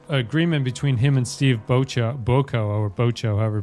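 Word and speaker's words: Bochco: Uh he was apparently there was a agreement between him and Steve Bocho Boo or Bocho however you pronounce it. Who was the other NYPD Blue producer? Oh, Botchko.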